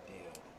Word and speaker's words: Dio: Ibrahim Dio. It's pronounced like Ronnie James Dio.